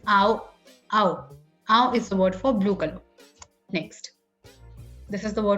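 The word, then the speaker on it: あお: and then I'll just show you what the pronunciation is. Okay, so it's ow, ow.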